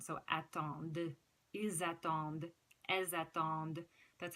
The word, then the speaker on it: attendent: And you pronounce the last D in this one because it ends in E-N-T, and the E after the D makes you pronounce the D sound. So attendent, ils attendent, elles attendent.